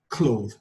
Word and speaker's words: clothe: Now, the previous sound, we pronounce this as cloth, but this sound, you pronounce this word as clothe. You can see the difference. This word is without the letter E, so cloth.